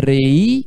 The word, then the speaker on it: reí: Me reí mucho. Tá vendo? Ó, reí. São duas sílabas.